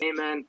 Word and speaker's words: Eamonn: shout out here um eamonn i think i'm pronouncing your name right says uh my name is amen yes cena and read